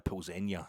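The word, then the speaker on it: Plzeň: It's Viktoria Plzenia, their commentator was telling us. That's how it's pronounced.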